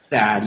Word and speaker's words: THAAD: THAAD, yeah, sure.